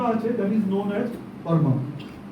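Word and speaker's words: PERMA: মধ্যেই একটা ফর্মুলা আছে that is known as পরমা পি ই আর এম এ পরমা বলে একটা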